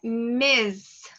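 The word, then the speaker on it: Ms: A pronúncia é Miss. Assim, ó, a pronúncia de Mr. Assim, tá ok? Mr. A pronúncia de Miss é assim, ok? With a Z sound, com um som de Z, ok?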